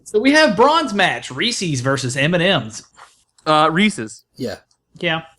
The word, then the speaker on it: Reese's: I say Reese's, but I have said Reese's because it's supposed to rhyme with pieces, Reese's right?